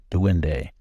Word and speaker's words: duende: Google it for yourself it's spelled d-u-e-n-d-e to win day well what is a